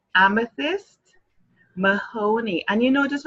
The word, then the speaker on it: Amethyst: And you know, just when you have to pronounce amethyst, you have to put that tongue between your teeth kind of thing. You just can't say amethyst. No. You have to pronounce it properly. Amethyst. With care. With love.